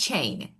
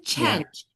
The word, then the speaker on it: change: definitely I would definitely hear the word change at chain really because the pronunciation was exactly the same as chain. This is change. First we don't say a because this is change change and I should hear that g like sound the end because we have